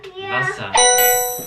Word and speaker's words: Wasser: Wasser. Oh, we have to Wasser. copy. Wasser. Wasser. Wasser. Vasa. See, Wasser. Pronounce the W as a V.